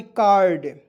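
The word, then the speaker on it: curd: सी यू ए देखिए सी यू आर डी कार्ड इसका उच्चारण कार्ड के रूप में करेंगे दोस्तों कार्ड मींस होता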